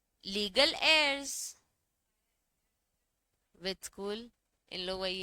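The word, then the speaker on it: heirs: accept step to legal एयर्स with school इन लोग वही है ना हायर वाले लीगल हायर ए साइलेंट होता है बच्चे हम लोग एंड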